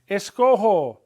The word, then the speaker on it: escojo: Escojo, why? Because the G in the infinitive, escoger, recoger, coger, and all the others, it's a soft G.